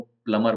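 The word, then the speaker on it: plumber: के हिसाब से उसको प्लबर ही बोलते हैं सभी लोग कई बार हर जगह पर ऐसा ही बोला जाएगा बट रियल इंग्लिश में उसको प्लमर बोलते क्योंकि इसमें ब प्लमर प्लमर भी साइलेंट और कोई भी सामान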